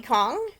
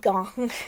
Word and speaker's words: Gong: these violent delights by chloe kong chloe gong sorry i couldn't say it right so chloe gone wrote